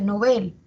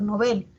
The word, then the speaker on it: Nobel: escucha que se pronuncia Nobel no sin embargo si verificamos en el diccionario panhispánico de dudas esa palabra su origen es aguda esa palabra es aguda o sea la pronunciación Debería ser Nobel e y quizás en